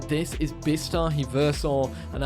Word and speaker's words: Bistahieversor: That being said, this is Bistahieversor, and I've definitely mispronounced that. Meant to say it faster, Bistahieversor. No, I've definitely said that wrong.